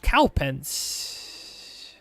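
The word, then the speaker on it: Cowpens: a bit better uh how do we pronounce this one cow pens like cow and pens cow pens so this will be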